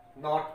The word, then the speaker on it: knot: जैसे KNOT नॉट पढ़ेंगे तो यहाँ पर के साइलेंट है, ये नो है।